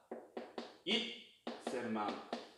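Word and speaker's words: 一千万: 그렇기 때문에 1천만 같은 경우에는 이치센망이 아니라 이센망이라고 합니다. 이치를 붙이긴 하지만 이때 발음 변화가 돼서 이센망이 돼요.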